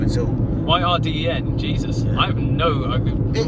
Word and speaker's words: Yrden: But I would say Yrden or Yrden. But I'd say Yrden, Y-R-D-E-N.